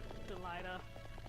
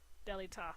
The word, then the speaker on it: Delita: Delilah. Delita. Delita. Delita. Delita. There we go. However he pronounces his name.